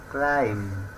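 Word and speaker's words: climb: টি এল আই এম বি ক্লাইম মানে আরোহণ করা বা খারা উপর দিকে উঠা একে ক্লাইম বলা হয় এখানেও বি লেটার ডি সাইলেন্ট থাকবে ডাউট ডি ও ইউ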